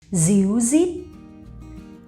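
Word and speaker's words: ríu rít: However, in the north of Vietnam, we pronounce R as Z, z, okay?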